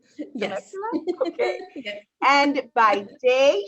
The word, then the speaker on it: Temecula: She lives in Temecula, California. Did I say that right? Yes. Temecula?